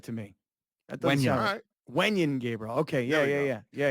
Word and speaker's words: Wenyen Gabriel: an old Laker on that team who that Wayne Gabriel I think it's pronounced uh Wayne no man that doesn't sound right to me that doesn't Wan Gabriel okay yeah yeah yeah yeah yeah welcome Sports